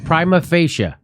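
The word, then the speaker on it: prima facie: primer fascia Prima facial Prima fascia at least I watch Boston Legal not fake not falchi it's Prima Prima facia I was right thank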